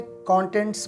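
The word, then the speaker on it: contents: form है कंटेंट्स कंटेंट्स आपने इसे कंटेंट्स प्रोनाउंस करना है कंटेंट्स नहीं कंटेंट एडजेक्टिव है और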